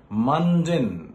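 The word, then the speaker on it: mundane: angry okay next question question number four মানডেন মানডেন প্রোনাউন্সিয়েশনটা খেয়াল করো মানডেন এম ইউ এন ডি এন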